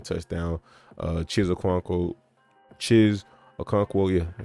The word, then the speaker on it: Okonkwo: Chiz Okonkwo, yeah, I said it right.